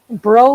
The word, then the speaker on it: Breau: wrong this time but do you pronounce your last name that way bro like snow okay so i did